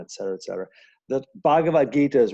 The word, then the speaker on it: Bhagavad Gita: so the name of the scripture is called bhagavad-gita is that correct how i pronounce i think it's a you know i